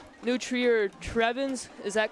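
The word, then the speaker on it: Trevians: But anyway, we're here for this homecoming matchup between the 1 and 3 New Trier Trevens. Is that correct how you pronounce it?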